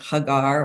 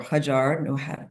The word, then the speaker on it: Hagar: the mother of Isaac, and Hagar or Hajar, depending how you pronounce it, the mother of Ishmael, we would not be here today.